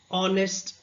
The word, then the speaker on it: honest: house, happy, honest, hungry. So, here all the words are pronounced but there is one word which has a silent letter.